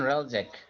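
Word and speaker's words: Hreljac: Ryan রালজ্যাক। Ryan রালজ্যাক। হুম, মানে এইচ in উচ্চারণ হবে না 1990 আর কি, H will be silent. G স্যার। In 1998, 6-year-old Ryan Relzek was shocked to learn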